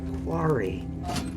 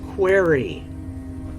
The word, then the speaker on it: quarry: to pronounce the word Quarry it's Quarry not query there is no e in Quarry well there may be but it's at the end if there is one spelling is not